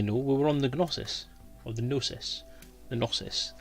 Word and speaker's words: Gnosis: Now, as you probably know, we were on the Gnosis, or the Gnosis. The Gnosis. It's about 15 different ways of saying it. I know the G is silent, so it's Gnosis or Gnosis.